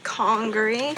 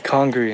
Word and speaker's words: Congaree: Turns out we've been saying the park name wrong. It's Congaree. Congaree, not Congaree.